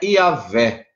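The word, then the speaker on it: Yahweh: né em hebraico mas como podemos entender a pronúncia é yaveh por ter vogais massoréticas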